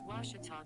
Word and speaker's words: Ouachita: really it's ouachita washington washington how would you pronounce it it's washita baptist university get it right it's water tall